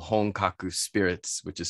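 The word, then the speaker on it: Honkaku: the states ping-ponging across the country supporting called hongkaku spirits which is spelled h-o-n-k-a-k-u hong kaku which means means authentic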